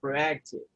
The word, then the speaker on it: proactive: that way practical okay proactive yeah you have this person on the second and the second syllable proactive okay what was the one